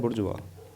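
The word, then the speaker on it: bourgeois: Belonging to middle class, middle class से जो belong करे, अब ये है बुर्जुआ, ठीक है, इसको बोलते हैं बुर्जुआ, प्रोनाउंसिएशन इसकी बुर्जुआ होती है, मध्यम वर्गीय।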